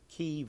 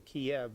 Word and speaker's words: Kiev: ones that was the mayor of kiev or kiev whichever you want to pronounce it it's pronounced both ways every time they talk